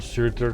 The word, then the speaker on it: Surtur: It's Old Norse, so it misses that last vowel. That last vowel sound could be a U or an E, but it's spelled Surtur.